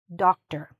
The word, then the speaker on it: doctor: The stress is here, and once again, just like in "actor", we had to shorten the "or", the same happens here. Shorten it, okay? Don't say the "or" like "or", okay? Say it as "doctor".